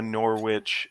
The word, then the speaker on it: Norwich: it british yeah because we also have a norwich in the us where we pronounce the w and there's a place